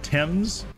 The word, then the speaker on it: Thames: And this one is Thames. I had to look up how to pronounce that, actually.